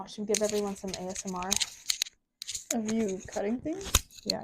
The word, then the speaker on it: ASMR: yeah I like how every time you call it Asmar when it's ASMR can I not pronounce